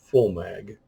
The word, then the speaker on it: VOMAG: to spell it right it's pronounced with an F so it's full mag um dust Works 8.8